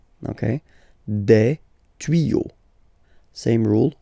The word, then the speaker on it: tuyaux: Same rule, you don't pronounce it. Des tuyaux. Okay, un tuyau, des tuyaux. So the only difference will be with the article because the word will be pronounced the same way.